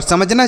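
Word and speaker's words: some: आपको पूरा देखना चाहिए और समझना चाहिए कि कहां पर ओ को हम क्या पढ़ सकते हैं।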